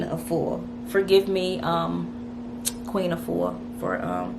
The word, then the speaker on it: Afua: I said Mama Full, forgive me, it is not Mama Full, forgive me please, it is not Mama Full, but it is Queen Afua.